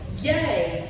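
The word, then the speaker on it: Yei: I had landed in a place called Yay, spelled Y Ei, pronounced Yay.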